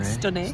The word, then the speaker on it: Stenay: Anyway, we've just had 2 nights in a lovely little town called Stenay, and it is stunning. Stenay. No, but you pronounce it Stenay.